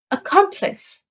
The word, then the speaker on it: accomplice: Accomplice. The stress is on the second syllable.